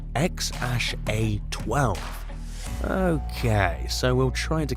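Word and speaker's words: X Æ A-12: how to pronounce that name musk says it's pronounced x-a-12 okay so we'll try to keep that note remembered 8.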